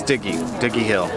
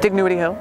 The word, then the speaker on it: Dignowity Hill: Dig-NOW-ity sounds weird. I know some people say Dig-NOW-ity. I was like, I don't know, I'm Southern, so we just kind of roll everything all out at the same time. Dig-NOW-ity Hill. Just say it real fast and it won't matter.